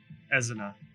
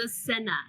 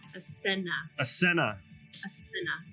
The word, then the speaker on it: Asena: Ezina. I cannot pronounce her name. You could just say girly. I'm the only girl here, so it's Asena. Asena.